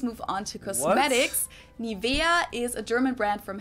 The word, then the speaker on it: Nivea: English native speakers usually say Nivea, Nivea. In German, we say Nivea, Nivea. So the emphasis is on the E, Nivea.